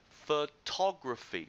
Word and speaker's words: photography: on the second syllable next one photography photography photography the stress is on the second syllable etc etc I'm make